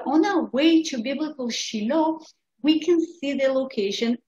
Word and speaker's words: Shiloh: pronounced and therefore shiloh this is how it is spelled in hebrew in some translations of the bible will be shiloh which is the right version but it also